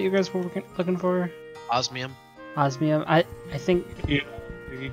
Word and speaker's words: osmium: It was, like, Osinium or whatever. Is that what you guys were looking for? Osmium.